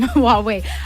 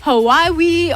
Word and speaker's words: Huawei: it came to pronouncing the name Huawei you out would here Hawaii or like lots of different things what does it